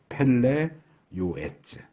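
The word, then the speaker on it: פלא יועץ: 축구 선수 이름하고 똑같은데 발음이 펠레 요에츠.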